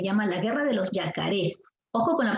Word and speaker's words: yacarés: de los yacarés yacarés te das cuenta de la pronunciación yacarés aquí está la fuerza de voz esta es una palabra aguda si es una palabra